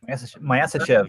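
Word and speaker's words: Myasishchev: It's the I've got to try and remember how you pronounce this. Myasichev. Does that sound right? Myasichev, yes.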